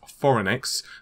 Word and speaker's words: Phoronix: So a website to buy, and I'm probably going to butcher the name, is Foronix.